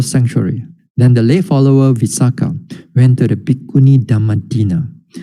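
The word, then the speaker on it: Visākha: this is the male Visakha. This is not the female, the benefactress of this one. Usually we associate with the word Visakha. This is the male without a long A at the back.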